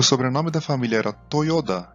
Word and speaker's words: Toyoda: A letra Ta, com esse sinal, fica com som de Da, por isso se lê Toyoda.